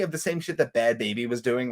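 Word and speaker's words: Bhad Bhabie: It's Bad Baby, Kevin. Is it Bad Baby? It is 100% Bad Baby.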